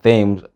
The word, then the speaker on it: Thames: Number 6 aka ce note also that in some names like Thames, Thomas and Anthony, th is pronounced as t.